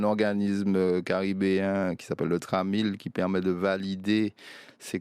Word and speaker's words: TRAMIL: Et le TRAMIL, voilà, comme ça se prononce.